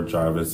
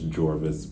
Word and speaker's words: Jorvis: a couple I mean you will hear jvis or Jarvis um but it is jvis but um I originally